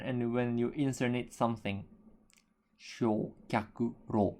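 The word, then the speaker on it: 焼却炉: And then the third kanji here can be pronounced as ro. Shokyaku-ryo. Shokyaku-ro.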